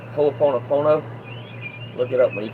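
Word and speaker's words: hoʻoponopono: It's called It's pronounced hooponopono.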